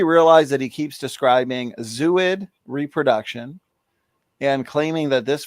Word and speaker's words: zooid: So maybe it's pronounced zooid. Zooid. There we go.